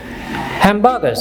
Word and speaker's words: hamburgers: সুতরাং আমরা আরটাকে উচ্চারণ করব না, কাজে আমরা কি বলবো হ্যামস্টার। হ্যামবার্গার্স, এখানে লক্ষ্য করে আমরা বলবো না হ্যামবার্গার বলবো না, আমরা কি বলবো হ্যামবার্গার্স।